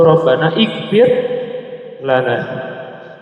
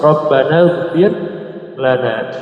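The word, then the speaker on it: ربنا اغفر لنا: Kalau antum baca satu-satu, Rabbana ikfir lana. gitu ya. Iya. Dia harus wasal. Nah, dia hamzatul wasti maka dibacanya ee apa? Langsung rabbanagfir lana ya.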